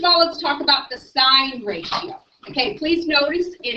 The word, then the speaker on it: sine: Okay, first of all, we don't say sin. That's something that Jesus decides. Okay, it's sign even though it's abbreviated that.